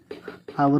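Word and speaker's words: hour: त्याच ते महत्वाच आहे आर आवर वाचतो आपण आवर आवर आर म्हणतो ना तर म्हणून आ हे काय आहे स्वर आहे म्हणून वापरलं इथ एम एम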